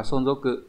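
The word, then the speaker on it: 存続: Ở đây còn câu số 4 là từ sonzoku, đọc là sonzoku, có nghĩa là cái sự tồn vong đấy,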